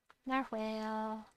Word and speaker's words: narwhal: Narwhal. Or narwhal, but it's pronounced narwhal.